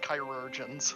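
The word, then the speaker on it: chirurgeons: It's pronounced chirurgians.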